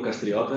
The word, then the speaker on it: Castriota: in person and online my name is Castriota and as the Italians pronounce it I am from Brazil